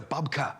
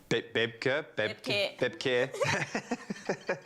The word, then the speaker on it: babka: It's a babka. What is a babka? Am I even saying it right? It is the correct. How did you say it the first time, though? Bebke.